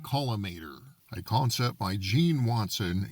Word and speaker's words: collimator: This is the X-ray caliminator pronounced columator a concept by Jean Watson using nuclear fusion.